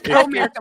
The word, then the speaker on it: Comerica: are trying to protect Comerica, the showmance. Who? So Comerica, not it's Comerica like the bank.